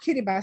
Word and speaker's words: Kiribati: with me on this yeah kiribati it's pronounced kiribati so uh this is